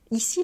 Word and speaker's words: y: alors il prend le métro pour y aller ici le i donc vous voyez le Y qui se prononce i ça remplace le groupe nominal la